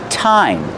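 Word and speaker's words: thyme: this one it's pronounced time that's right time like what time is it the pronunciation is time use the real T sound time and this is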